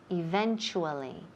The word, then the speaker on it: eventually: and as you know when we have a t u in the middle of the word it sounds like cha eventually eventually now in this word the accent is on the second syllable eventually eventually okay great we're going